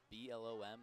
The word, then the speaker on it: Blom: B L O M, I would pronounce Blom.